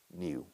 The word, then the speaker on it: knew: I knew, el pasado to know se pronuncia igual que la palabra nuevo. Knew.